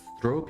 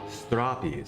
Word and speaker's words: stroppy: Like Poppy, yeah. Not Stropy, you even said it like that, okay. Stroppy, so that's how you would say straw, I would put it as a S-T-R-A-H-P-Y to try to phonetically spell it.